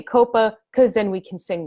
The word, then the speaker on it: COPPA: DC last week that it is definitely pronounced Coppa by the people at the FTC we like to say Coppa because then we can